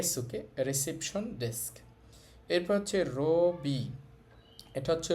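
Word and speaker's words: ロビー: এইটা হচ্ছে ওই যে ইংরেজি শব্দ লোবি এইজন্য এটার উচ্চারণও হচ্ছে রবি এরপরে আছে হেইয়া হেইয়া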